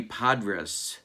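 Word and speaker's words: Podres: lifetime of saying it johnny padres not johnny padres it's johnny podrus and i'm never gonna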